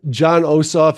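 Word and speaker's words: Jon Ossoff: on him somewhere uh but this is uh John osof if I say his name right um that's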